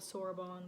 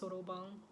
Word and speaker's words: soroban: People call it soroban, but it's actually pronounced soroban.